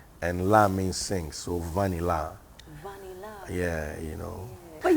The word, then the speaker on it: Vanilla: Vanilla. It's spelled Vanilla, but it's pronounced Vanilla.